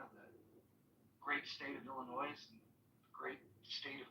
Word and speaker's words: Illinois: So I believe, and people are not saying Illinois, it's Illinois. The S is silent, Illinois.